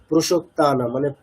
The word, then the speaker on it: প্রসক্তানাম: যেমন ভোগৈশ্বর্য প্রসক্তানা, মানে প্রো, যেটা আমাদের টেন্ডেন্সি থাকে একটা বাংলাতে অকারটাকে ওকার বলার, সেটা কিছু কিছু ক্ষেত্রে হচ্ছে। তাহলে প্রসক্তানাম, ঠিক আছে?